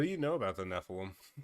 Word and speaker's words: Nephilim: So, the the these warlocks are part Nephilim, but he's pronouncing it nylum.